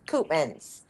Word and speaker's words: Coopmans: with a yeah, K, and it's Coopmans. It's just like it's spelt just like it's pronounced.